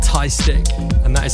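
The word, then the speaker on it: TY3STIK: This one's from someone called Ty Stick, and that is spelled T-Y-3-S-T-I-K.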